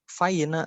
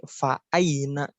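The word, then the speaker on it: فأين: Dibacanya bukan faina bukan, tapi fa'aina. Itu harus dibaca, wajib dibaca si hamzahnya.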